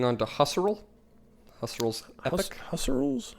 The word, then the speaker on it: Husserl: Husserl's? I don't know how to say his name. I think it's Husserl. All right.